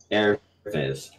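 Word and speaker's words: Aervis: It's two different words. Yeah, I know. So you just pronounced them extremely with no pause, so it sounds like you're saying air viz. One word. Yeah. It's Latin. It's air viz.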